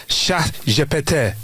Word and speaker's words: ChatGPT: Life is extra surreal for French speakers right now because in French phonetically chat GPT sounds exactly like cat I farted sha japet. That's how you say it.